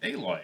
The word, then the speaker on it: Aloy: She's named Aloy. Yes, but it was why would you pronounce alloy Aloy?